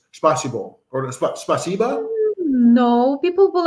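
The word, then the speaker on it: спасибо: a certain way like you can't just say spasiba has to be like spasibo or spba no people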